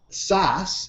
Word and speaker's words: SAS: SAS is a pain in the ass. That's why it rhymes with ass.